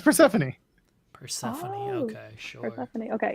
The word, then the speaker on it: Persephone: It's like Phosphorone. I'm that. I'm sorry. Isn't it Persephone? Persephone? Is that how you say it? Pretty sure it's just Persephone.